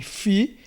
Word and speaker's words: Φ: Fi, ele é transliterado como um F, F de fel, de filho, de faca.